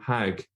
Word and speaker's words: hajj: borrowing from the hebrew hague in fact in some arabic speaking countries including egypt they still pronounce it as hag so it's directly from